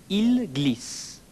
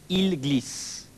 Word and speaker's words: ils glissent: Ils glissent. They slip. Though the written form is different, you will notice it's pronounced the same as the singular il form. Ils glissent.